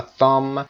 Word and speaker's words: thumb: خب مشخص palm کف دست هست، wrist مچ هست و thumb به گفتیم بیش هم تلفظ نمیشه.